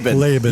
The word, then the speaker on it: Labin: Labin. Labin.